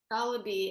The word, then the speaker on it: Goloby: Goloby. It rhymes with Goloby.